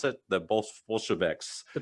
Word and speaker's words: Bolsheviks: as per se, the Bolshevik, how do you pronounce it? The Bolsheviks. The Bolsheviks.